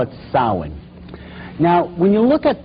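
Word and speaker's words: Samhain: Halloween in the occult World they call it sa now when you look at the name it looks as if it's saying Sam hayan or something like that no no no no this is properly pronounced in the ancient gelic as sa sin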